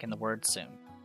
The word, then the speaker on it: そ: Pronounce it as so, like in the word soda. そ Let's practice writing it.